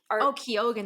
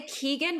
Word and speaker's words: Keoghan: I say Keegan, but I could be wrong. I just look at it and I try to pronounce it with an Irish accent and I go, it's Barry Keoghan.